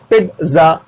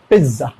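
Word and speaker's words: pizza: ये भी आप यहां लिखा हुआ है पिज्जा, नो, पिज्जा, पिज्जा, ठीक है। अब ये जो टी का साउंड आ रहा है ना, ये सुनाई जरूर जा रहा है लेकिन बहुत स्लो, पिज्जा, पिज्जा, ठीक है।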